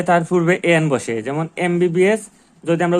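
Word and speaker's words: MBBS: যেমন এমবিবিএস যদি আমরা উচ্চারণ করতে যাই তাইলে প্রথমে এ আসে। এম বলতে গেলে প্রথমে এ আসে। এখানেও এম বলতে গেলে প্রথমে এ আসে।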